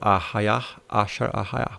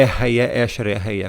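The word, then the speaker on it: אהיה אשר אהיה: E aí o paleohebraico não tem som de E, é A. Então, ahayar, ashar, ahayar. Por isso que é isso. Tá? Então não é erraia, esher, erraia, como no hebraico moderno.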